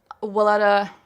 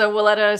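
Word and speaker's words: Weleda: two things one is the welletta I feel like I'm always saying that wrong I probably said it wrong it's the willetta Skin Food it's the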